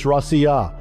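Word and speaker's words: Россия: In the same way, Russia in Russian isn't even pronounced Rush or Rush, it's Rossiya, coming from an entirely different linguistic stream.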